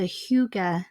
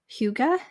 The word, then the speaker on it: hygge: friend Rachel Zimmer on her podcast called the Huga nurse podcast and that's spelled h y g g it is a